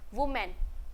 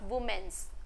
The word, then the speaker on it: women: वुमेन। If more than one, we call वीमेन, नॉट वुमेन्स, okay, वीमेन, WOMEN, वीमन। Please pronounce properly, okay.